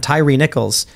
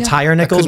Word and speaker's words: Tyree Nichols: down on Tyree Nichols is that it pronounce it Tyree Nichols I was calling him Tire nickels before I couldn't tell because like if it was Tyree I think it'd be like two e's but I'm not trying to get his